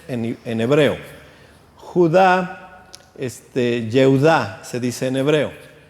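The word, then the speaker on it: יהודה: Por ejemplo, José, que también se escribe con yud, se dice Yosef en hebreo. Judá, Yehudá se dice en hebreo, y así sucesivamente.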